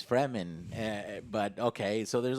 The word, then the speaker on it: Fremen: and then and then at one point i heard i heard the paul character in this film say the furman and i'm like no it's fremen yeah but okay so